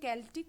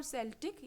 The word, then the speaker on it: Celtic: was initially celtic okay celtic or celtic you can pronounce both ways i have heard both pronunciations so england was celtic